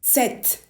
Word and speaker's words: sept: Well, with numbers like cinq, six, Sept, huit, neuf, and dix, you actually say it.